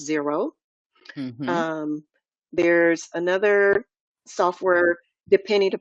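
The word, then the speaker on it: Xero: than fresh books there's another software called Zer xer o but it's pronounce zero um there's another software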